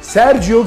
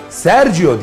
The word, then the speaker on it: Sergio: Unutmayın, Sergio diye okunur, Sergio diye yazılır.